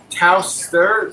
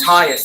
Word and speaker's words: Tyus: Cardinals kicking it off to HN and Anthony Taus the third. Those are the two kick returners for Carolina. Oh, Tyus. That's how you say his name.